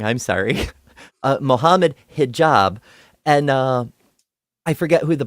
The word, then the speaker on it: Mohammed Hijab: I'll never forget that time when Alex O'Connor took on Mohammed Jihad and I've said his name wrong. I'm sorry. Mohammed Hijab, and I forget who the partners were.